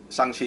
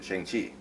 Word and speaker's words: Shang-Chi: So Shang-Chi is the now established correct way of pronouncing his name, although for decades we just simply called him Shang-Chi.